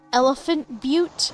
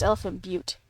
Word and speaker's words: Elephant Butte: There's also Elephant Butte. I forget what state that is, but it's spelled... It's spelled... It looks like Elephant Butt, but it's Elephant Butte.